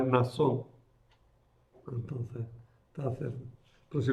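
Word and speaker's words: Mnasón: La Biblia de la Conferencia Episcopal ha suprimido la N con acierto porque se pronuncia Nasón. Entonces, está cerca. Pero si lo veis alguna vez, podéis verlo con M. Nasón.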